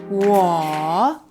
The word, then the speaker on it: 我: 我 Okay, perfect. What were you thinking when you pronounced that?